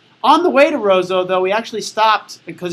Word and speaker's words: Roseau: town uh that we came to learn is pronounced Roseau on the way to Roseau though we actually stopped because it was right